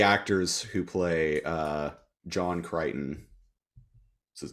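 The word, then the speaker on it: Crichton: most types maybe yeah uh how do you pronounce like the the dude's name John kryon uh uh John kryon yeah kryon yeah um so here's the thingi real Qui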